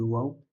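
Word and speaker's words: و: Tu as comme une lettre, le waw. Wa, wi, wu.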